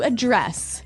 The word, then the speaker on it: address: So, the verb address has the the stress on the second syllable.